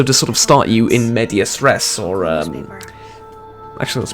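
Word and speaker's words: in medias res: part but also to sort of start you in media stress or uh actually let's pronounce that properly in media stress or to start you in the middle of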